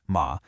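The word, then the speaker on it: 马: On the right, you have ma, the character for horse, which is pronounced ma.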